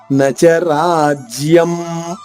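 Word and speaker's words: న చ రాజ్యం: రాజ్యం రా దీర్ఘంగా పలికిన తర్వాత ఆగా తీసుకుంటూ జ్య లోని మొదటి అక్షరం జాద్విత్వం చేసుకుంటూ నచరాజ్యం ఇక్కడ అనుస్వర ఉచ్చారణమ ఇక్కడ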